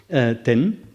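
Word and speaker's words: 天: Le mot tien chinois, par exemple, se prononce en sino-japonais ten, alors qu'en pur japonais, c'est ama, pour prendre un seul exemple.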